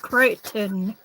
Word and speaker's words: Crichton: It's pronounced Creighton.